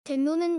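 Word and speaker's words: 天皇: 있지만 그래도 괜찮다면 답변해드릴께요 먼저 일본의 왕인 쳐 명을 된 노 라고 발음합니다 아 뜻하는 게 아닌 발음 하는 겁니다 그럼 여기서 백로는 첨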